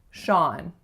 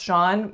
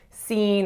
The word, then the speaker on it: Sean: Sean. Now the spelling of this one, unless you know that that's pronounced Sean, most of my clients don't get this. They say seen or seeing or lots of different things, but